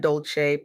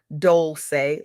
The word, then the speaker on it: Dolcé: I'm Dolcé, pronounced dol-say, like sweet softness whispered in French.